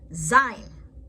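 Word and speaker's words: זין: Zayin. Zayin is pronounced as a Z in zebra.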